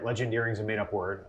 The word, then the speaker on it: Legendeering: and she said, yeah, his book is called Legendary. That she said it right. I heard legendary and I'm like, so it is legendary or it's called legendary, but it's legendeering.